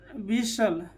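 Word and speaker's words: whistle: यहाँ पर देखिए, यहाँ पर 2 साइलेंट होगा, W के साथ H आया तो पहले तो H साइलेंट हो जाएगा, ठीक है। फिर यहाँ पर T साइलेंट हो जाएगा, तो क्या हो जाएगा, विशल, क्या हो जाएगा, विशल, विशल, ठीक है।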